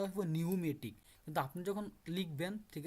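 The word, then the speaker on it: pneumatic: তো এখন দেখেন হচ্ছে নিউমেটিক হইব, পিয়ের উচ্চারণ আছে না, এখানে কি পিয়ের উচ্চারণ হইব না, উচ্চারণটা হইব নিউমেটিক, কিন্তু আপনি যখন লিখবেন,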